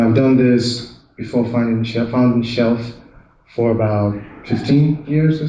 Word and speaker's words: Shulph: If I mind the spelling, it's actually pronounced Shulph, as in bookshelf.